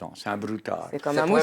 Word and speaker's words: broutard: Un broutard. Un broutard. Alors, ça s'écrit un broutard, mais on dit un brouta.